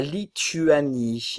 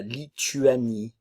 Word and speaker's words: Lituanie: lesonne leson lesonne la Lituanie attention le son u français la Lituanie luanien ok le a